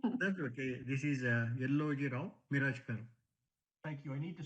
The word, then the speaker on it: Yelloji-Rao Mirajkar: That's Yellow J. Rayo. Miro? Yes, Sorry about that. I butchered your name. that's okay. This is Yellow Rao Mirajkar.